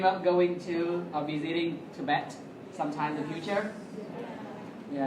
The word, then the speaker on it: Tibet: Nhớ là từ này chúng ta đọc là Tibet, đấy. Chứ không phải là Tibet đâu nhé.